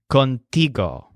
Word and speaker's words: contigo: to shop for tea contigo so the stress is on tea and this word means